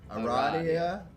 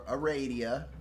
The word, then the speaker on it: Aradia: Okay, so I'm currently reading, and don't crucify me if I mispronounce, but I'm reading Aradia or Aradia. I've heard it said both ways.